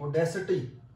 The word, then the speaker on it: audacity: And this is not itty, this is utty, audacity.